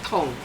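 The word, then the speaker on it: Dong: The first syllable is Tong, D-O-N-G.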